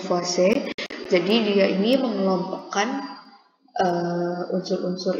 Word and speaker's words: Lavoisier: Lavoisier, cara bacanya adalah Lavoisier.